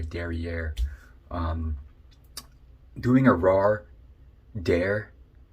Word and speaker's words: derrière: i'm not gonna lie the derriere stuff that's how you pronounce it by the way derriere um doing a raw